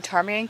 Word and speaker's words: ptarmigan: we are going to tar me and campground today so we and aunt Lila gave one hint which was there's a silent letter Avery that's what I